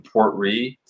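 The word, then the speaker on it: Port Ruighe: The only Talisker that really kind of threw me off was the Port Ree. It's spelled R-U-I-G-H-E.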